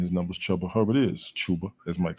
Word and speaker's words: Chuba: Chubba Hubbard of the Panthers against. Listen. Really? Listen. His real name is Chuba.